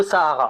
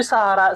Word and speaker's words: Sahara: Je le prononce à l'arabe parce que je fais ce que je veux. OK ? En gros, Sahara.